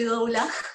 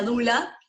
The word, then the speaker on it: doula: Y bueno, no le iba a contar, pero yo soy doula, en realidad se pronuncia dula.